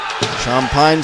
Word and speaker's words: Champagne: beaver goalkeeper Ian shampine shampine spelled c h a m PA a GN looks like champagne but the Louisiana pronunciation is champag Here Comes Ethan gner